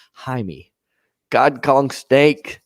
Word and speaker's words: Jaime: it ain says yes the j is silent in spanish names jaime god kong snake says